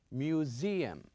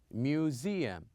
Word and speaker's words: museum: and also we have museum museum as i remind you last time here you can see the s but we pronounce it as zed museum and the last